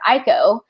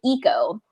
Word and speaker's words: Iko: the robot's name wrong, so it's Iko, and in the audiobook they pronounce it Iko, and that's how I'd kind of pronounce it, but I think it's actually Eco. Yeah, because I totally pronounced it Eco, and I think that's more correct, like that's more Japanese or whatever, but it's in the